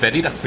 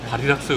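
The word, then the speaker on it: Varilux: 제가 왜 자꾸 베리락스라고 그러냐면은 베리락스라고 얘기를 해요. 진짜 바리락스라고 얘기하지는 독일이나 그거는 약간 좀 한국식 발음. 어? 바리락스는 한국식 발음. 독일이나 바리락스 뭐 이러지. 베리락스. 바리락스 내가 바리락스 그러면은 베리락스 바리락스 X예요.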